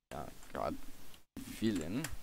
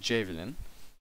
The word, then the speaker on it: JaVilin: Now, that's a combination between our names, JA for Just Another, which is like a little abbreviation, and then Vilgot for Villain, so it's actually JaVilin. There we go. It's JaVilin, however you want to pronounce that.